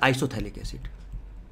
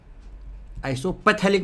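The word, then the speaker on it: isophthalic acid: इसका जो common name होता है आइसोथैलिक एसिड, आइसोपैथैलिक मत बोलना, पी साइलेंट है, थैलिक, आइसोथैलिक एसिड।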